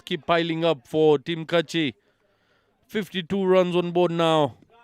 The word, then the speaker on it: Kuchi: It's Kachi, not Kuchi.